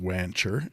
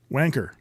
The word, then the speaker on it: Wancher: was corrected numerous times that is not pronounced wancher as I had always pronounced it it's called wanker so are we just living